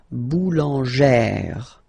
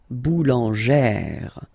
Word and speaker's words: boulangère: Remember, when you've got this E plus this accent grave, you pronounce it like really open sound. Okay, so boulanger, boulanger, and then feminine form, boulangère, boulangère. Same thing, don't insist too much on the final E, boulangère.